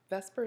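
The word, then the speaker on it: VSEPR: interested in now and Vesper is pronounced vascara with an e between the V and the S however there is no actual e there and it stands for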